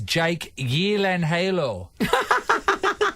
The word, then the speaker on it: Jake Gyllenhaal: yeah yeah yeah and Jake Gyllenhaal is Jake Yan Halo cuz it's Swedish not say G but I also have